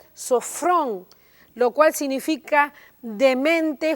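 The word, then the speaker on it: σώφρων: Además viene de una palabra que se pronuncia sofrón, lo cual significa de mente juiciosa, con dominio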